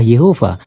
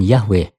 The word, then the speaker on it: Yehova: Sudah jelas bahwa orang-orang Israel menggunakan nama Yehova sejak dini, dan kita dapat mengetahui bahwa pengucapannya juga adalah Yehova, bukan Yahweh.